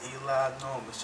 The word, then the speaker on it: Eli Normus: Eli Normus. Just like enormous. It is enormous. But it's Eli Normus, okay?